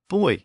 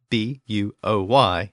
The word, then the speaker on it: buoy: of this bonus episode the pronunciation of the word buo Y in Modern English now a couple of episodes back in episode 31 I concluded the episode by discussing some words that passed from the Franks into Modern English and one of the words I mentioned was the that word buo Y which I pronounced buoy and that is the most common pronunciation of the word in the United States however that pronunciation elicited